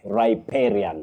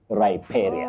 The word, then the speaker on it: riparian: You begin with rye not ry riparian land. Riparian land. Not riparian and not riparian or riparian. You say riparian.